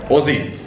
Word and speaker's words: Aussie: So, a person who's born in Australia is an Aussie. Aussie. Aussie. Aussie. So you don't say Aussie with an S, it's a Z. It's a Z sound, yeah.